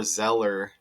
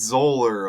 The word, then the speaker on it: Zoeller: I don't even know if it's Zer or Zeer, but I'm about to find out, I guess. And welcome. I hope you're doing well. How to pronounce? Is it Zeer? Let's see here. You want to look with me? Z. It's Zer. Okay.